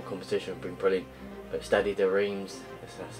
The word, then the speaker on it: Stade de Reims: But Stade de Reims, that's how you say it.